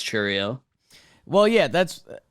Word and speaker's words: Chourio: It's when I according to the baseball reference pronunciation, it is Chourio. Chourio, like Yeah. chew. Like we're emphasis on chew.